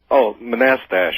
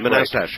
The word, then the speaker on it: Manastash: How do you pronounce the name of your town, Manastash? Manastash. Manastash. Right. That's right. Thank you.